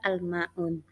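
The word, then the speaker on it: الماعون: berikutnya yaitu almaun itu adalah Mad Thobi'i tapi karena bertemu dengan Nun yang bersifat Hah atau Nun hidup atau huruf hidup kemudian kalian baca waqaf maka bacanya menjadi panjang almaun itu namanya Mad Arid lissukun sampai sini paham coba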